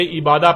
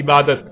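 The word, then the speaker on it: عبادة: لکھا جاتا ہے عبادہ، اور جب عربی لہجے میں اس لفظ کو پڑھا جاتا ہے تو تیز ساکت ہو کر ہے کی آواز میں بدل جاتی ہے، یعنی اسے عبادہ پڑھا یا بولا جائے گا۔ عربی کا لفظ عبادہ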